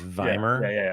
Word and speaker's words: Weimar: It's pronounced Weimar, isn't it? It's Weimar.